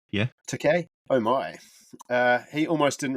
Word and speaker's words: Takei: Takei, yeah. Takei.